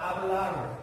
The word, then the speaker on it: hablar: 그래서 지난 시간에는 아르형 대표적으로 hablar, h는 어떤 부분을 발음하지 않는다는 다 알고 계실 거라고 보고